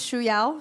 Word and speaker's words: Shuya: but my name is Shu ya so it's very difficult to pronounce but if you're interested it's pronounced like the shoes you're wearing and Y so shoe y czy